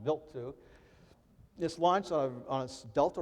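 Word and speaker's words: Wild 2: the comet built to spelled wild too it's pronounced built to this launched on a delta rocket and it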